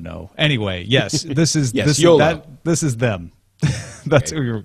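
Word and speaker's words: Jolla: Because I've heard Yola. Yes, it is Yola.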